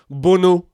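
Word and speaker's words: Bounou: about in this Moroccan team the first is Bono or bunu as his name is actually pronounced I think his name is Yasin bunu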